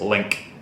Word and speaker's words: lynx: Actually, you know what the actual way to pronounce lynx is? Link. Link. Even though it's spelled L-Y-N-X, it's pronounced link.